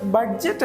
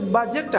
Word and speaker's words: budget: ബഡ്ജറ്റ്. അത് ബഡ്ജറ്റ് അല്ല, ശരിക്കും ഇത് ബജറ്റ് ആണ്. കാരണം ഇവിടെ D സൈലന്റ് ആണ്, ഈ ലെറ്റർ ഇവിടെ സൈലന്റ് ആണ്. സോ it becomes ബജറ്റ്. ബജറ്റ്, നോട്ട് ബഡ്ജറ്റ്. D is silent.